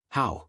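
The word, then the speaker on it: 好: "How?" she said, pronouncing it carefully.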